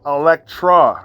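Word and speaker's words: Elektra: that first off and her name is Electra Lopez that's number one Electra yeah I know Alexa Lopez Electra not Alexa Electra you know like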